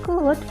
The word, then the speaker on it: could: Yang pertama adalah can, yang kedua adalah could, L-nya dihilangkan jadi bacanya tinggal could.